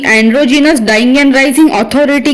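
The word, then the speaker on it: androgynous: पिछले कुछ वीडियो में मैंने एंड्रोगाइनस शब्द का उच्चारण गलत किया था। इसका सही उच्चारण एंड्रोजीनस है।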